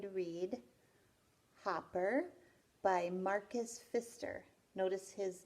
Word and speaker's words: Pfister: read hopper by Markus Pfister notice his name his last name he's got a silent P at the beginning of his name and hoppers about a